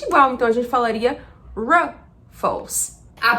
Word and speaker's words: Ruffles: Nos Estados Unidos, você vai ouvir Ruffles. O que estamos pronunciando de diferente aqui? Basicamente é o som do R. Em inglês, esse R, como eu poderia dizer, ele é mais puxado.